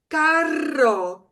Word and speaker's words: carro: One way to say car in Spanish, because there's two R's, we know we should trill if we can. Carro, carro.